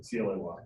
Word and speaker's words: Clay: C-L-A-Y. How to pronounce it?